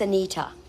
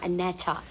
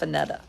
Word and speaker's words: Anita: It's Anita in Southern. It's Anita, not Anetta. Well, she calls herself Anetta It's Anita.